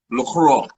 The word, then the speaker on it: LaCroix: It is pronounced LaCroix.